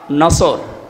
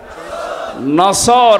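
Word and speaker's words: نصر: মানে ইগল পাখি এজন্য যারা এই সূরাটা পড়তে গিয়ে সওয়াদ না বলে সিন দিয়ে উচ্চারণ করেন আপনার কিন্তু নামাজ হবে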